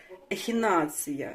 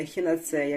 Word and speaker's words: ехінацея: них наголос куди падає знаєте як то ехінація вірно А не ехінацея ми всі кажемо ехінацея а воно ехінація Ось так бачите невеличке